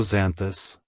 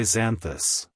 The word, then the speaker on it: Xanthus: mythology it's pronounced as zanthus zanthus zanthus to pronounce it correctly EMP emphasize the Zen and pronounce the th as in this the buz should be